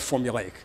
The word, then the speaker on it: formulaic: I like that word formulaic it's uh formulaic four syllables every once in a